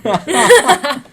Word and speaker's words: Pietro: Yes, Pietro.